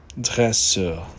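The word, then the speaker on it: dresseur: And here is a nice word uh which is trainer in French and the pronunciation is dresser.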